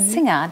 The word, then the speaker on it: Seung-ah: you or said hello saying Xena that is the way it's pronounced in Korean so it's singing